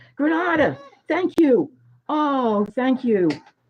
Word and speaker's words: Granada: Anyway, I'm pronouncing it wrong. Granada. Thank you. Oh, thank you. Is that Siri? No. Sinir. Thank you. It was Granada.